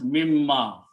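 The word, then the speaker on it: مِمَّا: Then the word is mimma.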